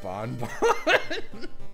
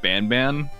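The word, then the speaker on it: Banban: you were afraid of Garden of bon bon it's called It's pronounced ban ban I don't care all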